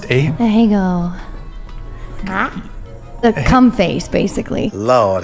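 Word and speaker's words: Ahegao: What is how's it pronounced? Ahego.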